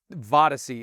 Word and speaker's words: Vodyssey: It's Vodyssey. It's Odyssey with a V at the beginning when you spell it.